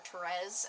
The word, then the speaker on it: Therese: between these two characters Carol and Therese or Torres as I'm supposed to believe it's named my middle name is actually Therese so I had always pronounced at Therese so I'm probably gonna pronounce it that way but in the film